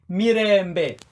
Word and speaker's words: mirembe: I start by saying mirembe, like me, re, mbe. This is a Lulogooli word for greetings. It has how many syllables? We have me as one, re as two, mbe, three. Mirembe.